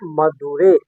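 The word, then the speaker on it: மதுரை: और अंग्रेज लोग जो थे इसको मदुरा नाम से जानता था, मदुरा। और यूनानी इसे मदौरा कहा करते थे। तो हर आदमी अपने अपने हिसाब से उसका उच्चारण किया करते थे। और तमिल लोगों के लिए ये मदुरै है, मदुरै है।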